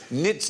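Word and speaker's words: knits: few a well tonight the K is silent as in nits not snackers knobs let's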